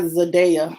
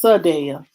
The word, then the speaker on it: Sadaya: that i reported about her name is not zadea it's sadaya um so i'm sorry so